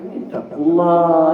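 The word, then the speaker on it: اتقوا الله: Kalau kita putuskan ayat itu bacanya ittaqullah ya.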